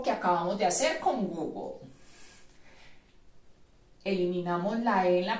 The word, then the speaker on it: Google: tengamos en cuenta que las dos ojos de la primera sílaba suenan como tú y vamos entonces a suprimir en la pronunciación light del final nos quedan la g y la l en medio de estas dos consonantes también agregaremos la letra o en la pronunciación nos queda entonces google goog el ángulo que se